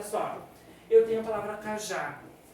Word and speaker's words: cajá: Cajá vai acento porque tem duas sílabas. A última sílaba, que é o já, é uma sílaba tônica, é a mais forte, e vai o acento porque termina em a.